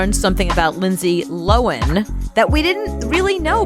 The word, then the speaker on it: Lohan: Like it's Lowen, Lowan. Yeah, because when you sent me this, I listened to it first and said, well, I've always been saying her name Lohan.